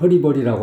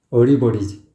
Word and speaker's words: 어리버리: 들이었네 양전시 노래 들어봤어요 어리버리를 허리버리라고 하고 있어요 근데 가수들이 허리버리라고 하는 가수들이 많더라구요 목에 힘이 들어가서 그런 거예요 허리버리란 말은 없어요 우리말에 그래서 이렇게 발음을 갖다가 막 발음을 막 함부로 오는 거죠 그래서 허리버리버리가 뭐라 뭐냐 말이야 어리버리지 사실 어리버리란 말도 표준말은